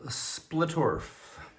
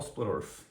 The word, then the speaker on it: Splittorff: Next up, we've got uh Split Paul Splurf. Splitter off. Splitterf. Paul Splitterf. Don't know why I butchered that name.